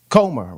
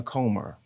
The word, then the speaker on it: Comer: Comer, Comer.